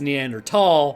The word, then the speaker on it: Neanderthal: is a, I guess, debate about is it Neanderthal or Neanderthal. The Germans pronounce T-H-A-L, at least from what I've come to understand, as a T sound, not a th sound. So it actually is Neanderthal, but nobody's gonna fault